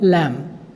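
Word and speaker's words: lamb: मेमने को कहते हैं लैम्ब, लैम्ब नहीं बोलते हैं, लैम्ब, बी साइलेंट होता है।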